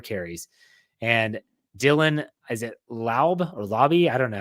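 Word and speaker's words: Laube: What is it? It's Lauby.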